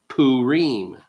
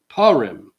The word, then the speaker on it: Purim: to pronounce it correctly in the Eastern tradition it's called Purim among Western westerners it's often called Paul rim Some central European communities even call it P Ram today if you say